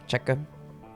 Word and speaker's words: Czech: That's how you say it, Czech.